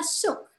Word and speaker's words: shook: Nah, di sini ada kata-kata shook. Shook itu walaupun tadi O-nya 2 bukan shock, tapi shook. Bacanya kayak U, shook.